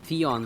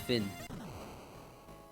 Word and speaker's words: Theon: as shocking as when I found out that Theon from smt5 is pronounced Finn laughs so it seems that there's no elevator